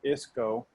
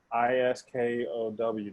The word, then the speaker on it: Isko: ISKOW. Did I spell that wrong? Isco. You did. So I used to say Iskow all the time, and I was getting.